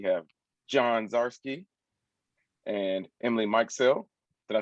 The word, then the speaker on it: Mikesell: Emily Mikesell. Mikesell.